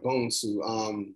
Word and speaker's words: Bonsu: Like, I think we're used to seeing B-O-N, that's usually Bond, like Bonds, James Bond. Like, we're used to pronouncing Bond instead of Bonsu. So, it is what it is. But yeah, people struggle with it. If you break it down, it's Bone is an American word, Sue is an American name.